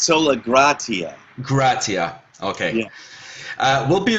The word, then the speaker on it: Sola Gratia: Am I pronouncing out Well, I'm saying it's Sola Gratia.